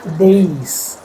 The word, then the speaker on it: dais: Dais par birajman mehman. No, it's not dais, days.